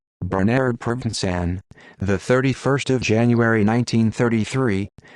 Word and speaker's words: Bernardo Provenzano: Bernardo Provenzano, Italian pronunciation, Bernardo Provenzano, the 31st of January 1933, the 13th of